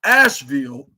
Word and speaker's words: Asheville: I mean, not Nashville, Asheville. Like that rhymes with Nashville, like North Carolina, like